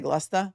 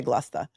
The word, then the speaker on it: Gloucester: I'm going to say Gloucester because you guys have told me that the easiest way to pronounce anything in Massachusetts is you said this, not me. The laziest way to pronounce it is usually correct.